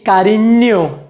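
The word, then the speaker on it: cariño: अगला जो अक्षर है उसका उच्चारण है एन्ये, एन्ये। जैसे कि कारिन्यो जिसका मतलब होता है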